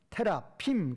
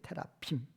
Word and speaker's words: 테라핌: 원문에 이제 그 발음은 히브리어 발음은 테라핌 그래요. 테라핌.